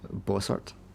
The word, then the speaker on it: Bossart: And then there is a card, employee card for a hotel, the Hotel Bossart. Sorry, was that boss art? Bossart. Bossart? How would you pronounce it? Boss art.